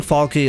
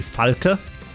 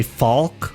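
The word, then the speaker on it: Falke: and I'm German and the proper way of saying it would be fala fala is the proper German pronunciation um that's why I don't want to say ful or Faulk or Fulk you whatever um that's why I like to say FAL because it's closer to the German pronunciation but at the same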